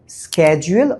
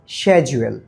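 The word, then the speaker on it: schedule: আর আরেকটা বিষয় শিখে রাখেন এই যেশিডিউল বলছি না এইশিডিউলের সঠিক উচ্চারণ স্কেজুয়েল অথবা স্যাজুয়েল। আপনারা চাইলে যেকোন একটা বলতে পারেন।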